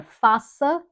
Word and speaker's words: faça: Faça, it would be faca without that, which means knife.